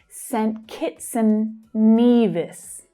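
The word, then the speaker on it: Saint Kitts and Nevis: So for saint, it's often said quite quickly as St. Kitts, St. Kitson. Hear how and reduces to n and links to the consonant sound before it.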